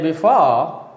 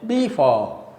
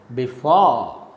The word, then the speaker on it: before: So, when you say before is correct, but when you say before, when you stress the first syllable and unstress the second syllable, it is a wrong pronunciation. So, the correct pronunciation is before. For is stress.